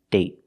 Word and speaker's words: date: example day day and date date so with date we see the vow is shorter because you have a stop D at the end I got bored one